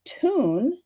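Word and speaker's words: Thun: on the back so this t-h-u-n is actually pronounced tune and then that is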